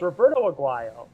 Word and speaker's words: Roberto Aguayo: Okay, first of all, it's Roberto Aguayo.